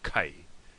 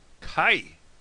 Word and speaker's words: Caith: Ulu is Ulster province, and here's how they say it in Ulster. Caith. Kai. Now listen to the difference with Cuiga Muin. This is Munster province. Ka.